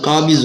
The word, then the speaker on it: قابض: یا قابض ہو، لفظ قابض ہو یعنی کہ قابض ہو، اس کو زوئے یعنی کہ زواد نہیں پڑھنا، داد پڑھنا ہے، عربی کا جو تلفظ